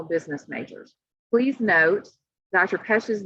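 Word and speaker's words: Pech: Wesley Pesch, chair of economics, finance, marketing, and also advises our upperclassmen international business majors. Please note, Dr. Pesch's name is spelled P-E-C-H, but it's pronounced P-E-S-H, and that'll just help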